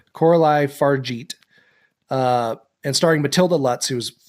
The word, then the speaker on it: Coralie Fargeat: It's a French film, rape and revenge action horror film, written and directed by Coralie Fargeat, I believe is how you pronounce her name. It's French. Coralie Fargeat.